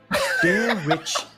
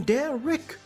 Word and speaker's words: Derich: my name wrong again dare rich with a rich not Rick why do you keep saying D Rick mayara you keep saying